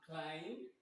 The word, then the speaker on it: climb: So we do not say the sound of B as in climb, as in debt, as in plumber, and so many words like this.